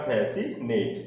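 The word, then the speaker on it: fascinate: फैसिनेट, फैसिनेट में भी क्या आ रहा है, एस सी है, और एस सी के बाद क्या आ रहा है, यहाँ पर आई आ रहा है, इसलिए इसमें इस वर्ड में सी क्या है, आपका साइलेंट लेटर है।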